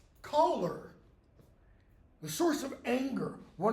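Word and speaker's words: choler: news could be but colar is the same pronunciation as colar the source of anger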